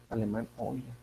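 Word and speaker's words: Euler: son las identidades de algunos vídeos que he visto dicen hoy leer pero bueno yo creo que tiene que ver con la pronunciación adecuada de ese apellido para hacer en alemán hoy bueno pues ahí tienen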